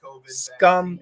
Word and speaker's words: scum: and scam huge difference scum is a short you don't stretch it scum and scam is a short a stretch that sound previous from Russia how